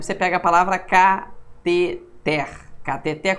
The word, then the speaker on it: cateter: Cateter, cuidado, não é catéter. É cateter. A pronúncia correta é uma palavra oxítona, não tem acento, né?